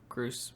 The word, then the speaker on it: Groose: Yeah, it's Groose. It's Goose, but with R.